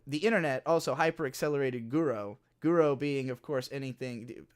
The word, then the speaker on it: guro: what that means so guro is short for guro tesque the japanese pronunciation of the word grotesque uh so basically yeah